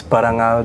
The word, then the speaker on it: Parangal: say it right my dance group's name is parangal Dance Company paranal paranal Dance Company okay what is it and where you from uh parangal Dan company we're based here in San Francisco